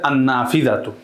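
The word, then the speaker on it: النافذة: আদাররাজাতু আন্নাফিদাতু এই যে লামটা উচ্চারণ হচ্ছে না বরং সরাসরি আলিফটা নুনকে গিয়ে ধরছে আন্নাফিদাতু তাহলে কিছু হরফ আছে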